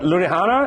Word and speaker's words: Ludhiana: He's originally from a small Punjabi village called Gurala in, I can't pronounce this, but Ludhiana, is that right?